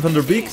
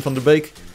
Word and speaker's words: Van der Beek: I've got the Tim Van Der Beek's if you pronounce his name in the English if you pronounce it in Dutch it's Tim from the bake he wrote all of